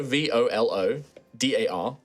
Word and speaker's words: Volodar: Now, Volodar Valoren, if you were to say that slower and with all the individual letters, spell it out. It is Volo, V-O-L-O-D-A-R, R-A-L-O-L-E-N.